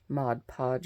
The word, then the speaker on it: Mod Podge: strips of paper down here with Mod Podge Mod Podge yep that's how you say it and I